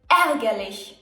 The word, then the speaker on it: ärgerlich: Is A with 2 dots on top. It can be pronounced long, as in Käse, or short, as in ärgerlich or ängstlich.